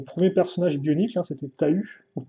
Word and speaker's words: Tahu: Et donc j'ai eu mon premier personnage bionique, hein, c'était Tahu, ou Taou, si on prononce bien l'anglaise.